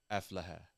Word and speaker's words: Aflaha: Aflaha.